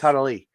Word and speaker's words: Tanaily: Let me see if I say it right. Yes. Tanaily. You did. Good job.